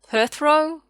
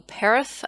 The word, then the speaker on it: Perthro: balance then we've got perthro or perith as i call it it's a dice cup